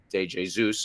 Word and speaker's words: De Jesus: I think that everyone is going to hear me say De Jesus and think, are you sure that's how it's pronounced? In fact, it is, because the 18-year-old with Brazilian roots, as opposed to Spanish roots, or, well, Spanish-speaking country